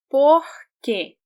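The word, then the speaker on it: porquê: Porque, porque. E, not E, because it's stressed.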